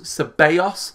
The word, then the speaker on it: Ceballos: to keep wearing them and Danny Bayer yas ceballos is how you've taught me to pronounce it so I will remember but mail